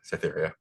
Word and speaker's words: Cytheria: Cytheria? Is that how you pronounce it, Mark? I want to make sure he says that. Yeah, Cytheria. Lieutenant Cytheria.